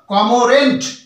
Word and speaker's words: cormorant: কেন হলো, দেখুন COMO এখানে আর যেটা রয়েছে সেটা কিন্তু সাইলেন্ট হয়ে যাচ্ছে, তাহলে COMORANT উচ্চারণটা আসবে কমোরেন্ট, এই আরটি কিন্তু উচ্চারিত হবে না, তাহলে উচ্চারণটা হলো কমোরেন্ট, কমোরেন্ট, কমোরেন্ট মানে হলো পেটুক।